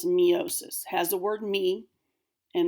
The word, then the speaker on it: meiosis: so that's the problem so this is correctly pronounced meiosis I will be incorrectly pronouncing it to help